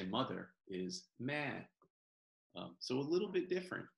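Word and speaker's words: แม่: The way you say mother is ma.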